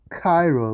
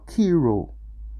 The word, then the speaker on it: Cairo: Cairo, Egypt, as a boy's name is pronounced Cairo with a K, Cairo or Kiro.